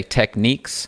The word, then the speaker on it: Technics: Some people say Techniques. I'll leave that up to you to decide.